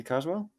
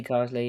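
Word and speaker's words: Carsley: like gr Potter and uh and Lee Lee Carwell Lee Carley yeah yeah Lee Carley yeah uh sorry for getting his name wrong um out of those three candidates who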